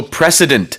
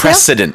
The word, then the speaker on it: precedent: 여기서는 강한 스 발음이 들어가야 됩니다.